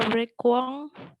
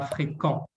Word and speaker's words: fréquent: C, il n'était pas fréquent dans les hôpitaux. Ouais, il n'était pas fréquent. Le U ne se prononce pas. Fréquent. Fréquent.